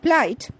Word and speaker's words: plight: of flour and water in words like PSI Delight flight where the letter i is followed by the diagraph g h the I sound is prominent and the H certainly remains silent the word plight p l